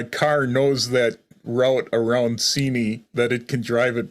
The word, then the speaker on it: Seney: Yeah, how do you spell that word that you're that where you? Seney?